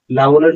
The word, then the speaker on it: লাঙল: লাঙলের ক্ষেত্রেও একই, লাঙল উচ্চারণ করি, গয়ের উচ্চারণ করি না, লাঙলই লিখবো।